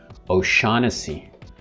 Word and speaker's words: O'Shaughnessy: persons last names like o'shaughnessy again here the gh is silent or strong here even